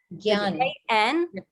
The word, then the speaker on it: jnana: Gyan. Bhakti. You pronounce it like a gya. Gyan. The JN is pronounced like a gya. So it's Gyan.